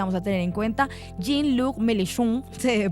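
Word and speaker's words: Jean-Luc Mélenchon: nombre importante que vamos a tener en cuenta jin luk melun se debe pronunciar eh Y el nuevo frente popular es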